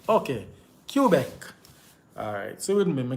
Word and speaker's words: Quebec: Yeah, man, it's pronounced Quebec. Okay. Quebec.